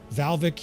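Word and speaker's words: Hvalvik: Valvik here with the silent H is constantly taken.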